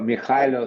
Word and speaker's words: Mykhailo: Mykhailo, c'est Michaelo. en ukrainien. En russe, c'est Mikhail. Et en français, c'est Ah, en anglais. Mais. en ukrainien, c'est Mykhailo. Michaelo.